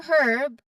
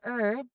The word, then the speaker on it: herb: Now it is often pronounced as herb, but there are certain cases that we also say or pronounce letter H here. So we say herb. This is often in RP, received pronunciation, or in British English.